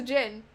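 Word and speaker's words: Djinn: Because Ericor is a Jin. which is what Nauticon is. Oh, yeah. Because genie, Yes. Jin, but it's spelled D-J-I-N-N.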